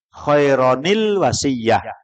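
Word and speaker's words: خَيْرًا الْوَصِيَّةُ: Itu ditulisannya nggak ada nun kecil, tapi cara bacanya pagi sudah belajar Al-Quran ya. Khairon al-wasiyah itu bacanya khaironil wasiyah.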